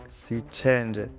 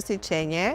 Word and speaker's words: Sićenđe: Yeah, my surname is normally it's Sićenđe. Sićenđe. Sićenđe. Okay. Not the way people here pronounce, you know. Now they will know. Yes. So from now, everybody will call you Sićenđe. No Sićenje, you're Sićenđe.